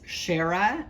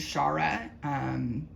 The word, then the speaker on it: Shara: That's how my parents pronounced it, and that's how I pronounce it, but I don't mind Shara. They mean the same thing. Usually if I tell someone how to pronounce it, I'll say share a cup of tea with me or something like that.